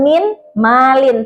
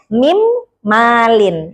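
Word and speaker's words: من مال: Nah, min tulisannya min malin tapi dibacanya mim malin ya. Jadi nunnya seperti hilang. Nah, yang kedua adalah idgham bila gunah.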